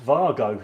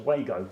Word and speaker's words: WAGO: We'd like to thank the great team at Vargo, sometimes pronounced incorrectly as Wago.